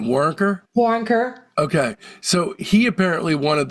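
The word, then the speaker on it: Waronker: And, Lenny Warren, how do you pronounce his last name? Warrenker? Warrenker.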